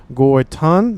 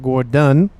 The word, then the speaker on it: Gorton: It is Gorton not Gordon I will probably say his name. Gort done with a D but it is T.